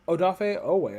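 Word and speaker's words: Odafe Oweh: he said that yeah oh cool uh well odafe oh way i like i like that better than jason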